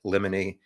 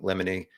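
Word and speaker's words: limine: to make sure and somebody pronounced it lemony a helpful tip is like there's a the Disney movie Pinocchio has a character Jiminy Cricket so Jiminy lemony and speaking of Pinocchio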